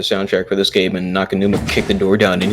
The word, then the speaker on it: Naganuma: Hideki Nakanuma, yeah.